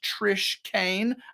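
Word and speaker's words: Trish Keane: That's Keane, pronounced Trish Kane.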